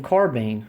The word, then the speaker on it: carbine: is my m44 Russian carbine now how did I pronounce that carban now certain people would say carbine because honestly it's spelled carbine c a r b i n like Pine or wine or you know or whatever